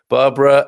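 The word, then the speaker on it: Bárbara: Barbara with a little accent on the A.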